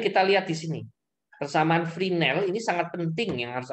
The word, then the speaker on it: Fresnel: orang Perancis ya augustine rynel ya karena ini orang Perancis esnya nggak dibaca sama dengan transformasi fourier dibacanya Uye Poison jadi puasa ini kita lihat di sini kesamaan freename ini sangat penting yang